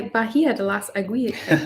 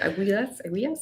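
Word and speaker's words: Bahía de las Águilas: Someone said, try Bahia de las Aguilas. I don't know how to say it. Aguilas? Bahia de las Aguilas. So that is, besides Las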